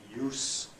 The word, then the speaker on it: use: or certain other languages must be careful to distinguish the semi y from J the africat difference between use employment and Juice squeezed from the fruit have you any juice for me and have you any use for me are different messages all right uh well